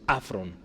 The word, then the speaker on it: afron: En la parte de abajo le pongo cómo se pronuncia, afron, con acento en la A, ¿sí?